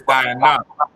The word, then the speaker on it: Dinah: What happened is Jacob has one daughter named, in the English is Dinah, in the Hebrew is Diana. All right, it's spelled as if you're saying Diana, but it's Diana, D-A-Y-N-A-H.